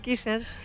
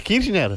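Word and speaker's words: Kirchner: casi en veda David kishner e kishner igual o es kirner kirner así kirner kirner kirner no es igual no no no y Cuál es la diferencia no entiendo la diferencia que se pronuncia casi igual y Cómo se escribe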